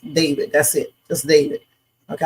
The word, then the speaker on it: D4vd: I call him D4 VD, but it's actually pronounced David.